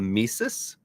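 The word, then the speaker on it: tmesis: the misus misus and let me spell that one for you because it's a crazy one Amis starts with the letter t yeah misus silent T ever heard of such a thing so misus is inserting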